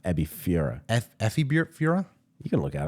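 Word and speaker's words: エビフライ: Kishimi, Ebisura, Miso Katsun. It's an F, Ebifura.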